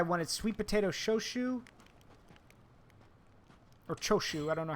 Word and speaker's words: shochu: whiskey other guy wanted sweet potato shoe or choshu I don't know how you say it yeah shochu there you go and finally the last guy